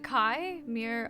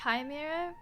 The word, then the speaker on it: Chimera: you're you're misinformed yeah Chimera sounds like it's exactly like that you've been saying it wrong 23 pronunciations it's like Kai Mir uh there you go I don't know what you've been saying but today you learned you're welcome not chimera you mean chai not chimer it's chimer